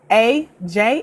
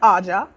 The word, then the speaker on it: AJ: tal that Emmy backslash a.j a which are my initials and how you pronounce my name it's not Audra but AJ and to 8so dropped